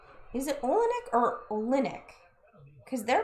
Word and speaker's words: Olynyk: Is it Olynyk or Olinick? Cuz they're pronouncing it Olinick.